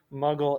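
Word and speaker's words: Mughal: they refer to as the muggle empire and that's spelled m-u-g-h-a-l this one involved muslim influence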